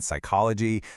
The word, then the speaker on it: psychology: The silent K in night, the P in psychology, the B in debt and subtle.